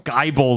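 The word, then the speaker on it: Gible: Shanks didn't I anyways Gibble I believe we found out it was pronounced which is a thing I've been saying guy bull the whole time because I figured it was Gibble it should be spelled like nibble he also looks like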